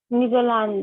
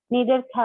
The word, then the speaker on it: Neanderthal: Netherland man. Not Netherlands. Neanderthal. Pronounce.